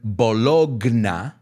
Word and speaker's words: bologna: Se pronuncia bologna.